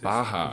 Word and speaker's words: Barra: Baja. Yeah. I always get that wrong. The double R is pronounced like an H in Portuguese.